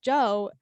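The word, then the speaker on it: Djo: you say his name I think it's just Joe is it just Joe just Joe spell dj-o it's literally just Joe AKA Steve from stranger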